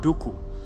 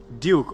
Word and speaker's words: Duku: name in different places it's said in different ways so some people call me count dooku and other people may call me duke or some people um even in some african countries they say my name with a click like can i get